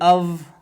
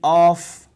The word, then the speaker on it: of: Now this preposition, people pronounce it off. It is not off, there will be no sound, so we pronounce it of, like this, of, it becomes this v.